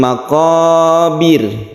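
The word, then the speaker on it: المقابر: Al bertemu dengan mim makobir makobir makobir ini banyaknya berkasroh sehingga roknya itu menjadi tipis atau tertib kita membacanya tipis caranya bibir kita ketika membaca Bird sukun roh itu itu ke bawah halte surotu Mul mau khobir bir ya bukan biru itu tebal tapi yang betul adalah tipis Hunters uruntu Mul mau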